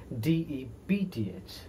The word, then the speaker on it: depth: depth mind the spelling d e p t h but the pronoun we have to pronounce this p as depth not d e f t h next false falsehood falsehood